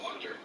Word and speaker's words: Wachter: at one point was named dr wachter pronounced walked her and he said i